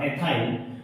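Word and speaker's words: ethyl: ये 2 कार्बन का group एथिल group है, जिसको अपन अंग्रेजी में प्रोनाउंस करते हैं इसका एथाइल, और ये है मैथाइल या मैथिल बात करें अपन हिंदी में।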